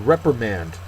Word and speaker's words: reprimand: is confirm next word reprimand uh that is again both a verb and a noun uh first syllable is accented the verb to scold